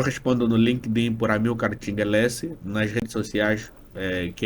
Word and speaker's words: Tchingue: Eu respondo no LinkedIn por Amilcar Tingelese, nas redes sociais, que é Instagram e TikTok é a Tingelese, do jeito mesmo que se escreve ATCHINGUELSSY.